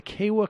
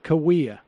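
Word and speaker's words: Kaweah: in the late 1800s the cave am i pronouncing it right the kala cooperative colony oh yeah Cahuilla tell us about the Cahuilla cooperative colony and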